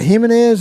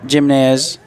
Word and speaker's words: Gimenez: Is that Gimenez? I believe that's his kicking off there. Yep. I'm not probably not pronouncing that correctly, but No, it's it's Jimnz.